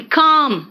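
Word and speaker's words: calm: वो चौक होता है, एंड काम, इट is naught L, इट्स काम है ना, एल को साइलेंट कर दो।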